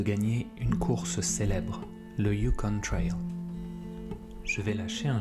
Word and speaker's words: Yukon: Enfin, il me semble que l'on dit plutôt un territoire qui s'appelle le Yukon. Ça, c'est ma façon de le dire, mais j'ai aussi entendu la prononciation Yukon.